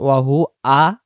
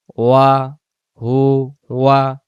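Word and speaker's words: وَهُوَ: এই শব্দটা যেন ওয়াহু আ না আসে, উচ্চারণ হবে ওয়াও জবর ওয়া, ওয়া হু ওয়া, ওয়া হু ওয়া।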